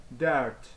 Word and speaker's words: dört: Alright, dört. You know, there are two dots next to each other, you know, see here. Alright, so these make the pronunciation like dirt, dirt, dirt.